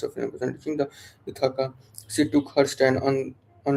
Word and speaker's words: Ithaca: And reaching the Ithaca, she took her stand.